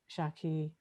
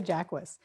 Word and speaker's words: Jaquis: But then, you know, everyone wants to be all socially conscious and say it Shaki or Hakis, however they think it's, if they think it's French or Spanish, but I say Jacquist.